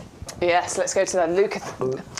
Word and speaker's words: Leucothoe: Right, well, there's different ways of pronouncing this. So I know Adam came in and said, what does he call it? He calls it Leucothoe. I think it's Leucothoe, but I quite like Leucothoe. I quite like saying that. Do you know what? I don't care. Many plants have got several different pronunciations.